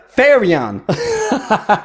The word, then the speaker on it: Therion: Je prononce ça Therion parce que je suis habitué de lire des cartes en français français, mais je devrais dire Fairy-on.